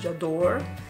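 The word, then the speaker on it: J'adore: one I never had it before it's called jador that's how you say it but this one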